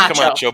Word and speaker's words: Camacho: Camacho. Camacho. It's pronounced Camacho, but yeah, we'll go with it.